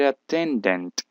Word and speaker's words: attendant: vocal a Y entonces por eso se pronuncia la t como una Ire y se pega flight attendant el Stress iría aquí attendant flight attendant flight